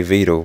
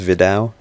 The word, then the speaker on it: Vidal: team vle is it I always say vdle but I've always pronounced that way since I knew about him but I think it's Vidal but I've always pronounced it